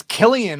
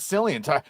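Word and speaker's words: Cillian: It's Killian also, not Sillian.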